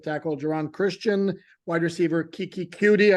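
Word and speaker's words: Keke Coutee: donon Christian wide receiver Kiki cue I'm told that that's how he pronounced his name um and then linebacker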